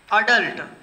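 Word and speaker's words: adult: अडल्ट, ऐसे एडल्ट भी इसको बोल, प्रोनाउंसिएशन जो है एडल्ट भी बोल देते हैं, बट ये शुद्ध जो होता है वो अडल्ट होता है।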